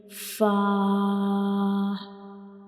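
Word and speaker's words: ف: And fa is a lighter letter. So we will read it with light sound like fa.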